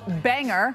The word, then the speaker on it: Bangor: spelled the same in two different locations but pronounced differently and the city name today is b-a-n-g-o-r in Washington is called Banger like hanger and that's where we will see